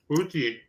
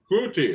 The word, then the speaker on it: Ncuti: certain pronunciation for his first name, although it's spelled, huh? Ncuti, Kuti. Kuti, okay.